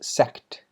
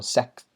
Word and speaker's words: sect: colony no not there i i mispronounced sect with like plural sex sex sex uh i missed the t and so a tangent